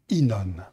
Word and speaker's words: Ynon: va découvrir ensemble InOne oui je dis bien prononce bien inan alors c'est un message